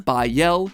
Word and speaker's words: Bael: All three of them, Bael, Pie Man, and Ba lamb, are phonetic ways of pronouncing the names Bael, Paimon, and Balaam, three king demons from the Ars Goetia.